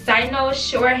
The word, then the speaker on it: Cynosure: apologize fast if I don't say right it's sighs no short hair this is how it's um this how it's pronounced char right there if you have to